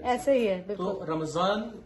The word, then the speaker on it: رمضان: رمضان زے کی آواز نہیں آنی چاہیے، زال میں، زے میں، ضاد میں، اور اسی طرح سے